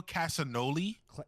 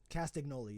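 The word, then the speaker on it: Castagnoli: name wheeler UDA or claudo castignoli no no no not oh claudo casoli cast castignoli yes okay CI okay I'm I'm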